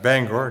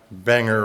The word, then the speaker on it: Bangor: columnist for the Bangor Daily News which is pronounced Bangor not Bangor right writing about Maine and national politics for